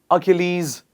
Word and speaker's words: Achilles: please repeat after me a kill ease please repeat after me once again achilles heel guys before we